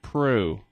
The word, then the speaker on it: Proulx: thank you for asking you pronounce it crew crew that's right crew just for you I know it looks more complicated doesn't it there is an L and an X and you know what